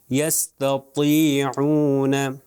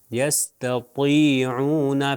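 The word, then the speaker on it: يستطيعون: توئیں ہے، تو اس کو ہوگا، اس کا تلفظ ہوگا یستطیعون، تطی، دیکھیے اس کے نیچے زیر آگے پھر بھی موٹا پڑا جائے گا۔ دیکھیے میں ابھی تلفظ کرتا ہوں، آپ میری طرف دیکھیے، یستطیعون، یستطیعون، پہلا والا جو تے تھا جو دو نقطے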